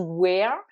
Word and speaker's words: wear: traduit soit par to wear, soit par to carry. Alors, wear, où là vous avez un EA qui se prononce est, donc c'est un homophone de wear, le mot interrogatif ou.